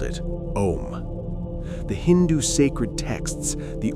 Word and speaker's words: Om: In Hinduism and Buddhism, before all words, there exists a single syllable, Om, or more precisely written, Aum, O U M.